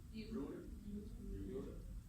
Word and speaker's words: Euler: So how do you guys pronounce it? Euler?